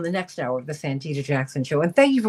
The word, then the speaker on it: Santita Jackson: David Gibbs in just a minute over on the next hour of the Santita Jackson Show. And thank you for pronouncing my name correctly, Carlos Ramirez Rosa.